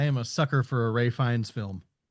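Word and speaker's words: Ralph Fiennes: Ian Kelson played by Ralph Finnis or Finn Ray Fines actually. It it's it's Ray Fines is how you it's it's he's he pronounces his name completely different from how it's spelled.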